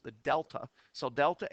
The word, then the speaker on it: delta: And when we're talking about the change in anything, we often use the Greek symbol of a triangle, pronounced the delta.